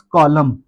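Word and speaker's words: column: Next word है हमारे पास कॉलम। कॉलम में भी आप दोस्तों देख रहे हैं कि एम आ रहा है। एम के बाद एन जो है वो साइलेंट है। इसलिए हमने इसको कॉलम पढ़ना है।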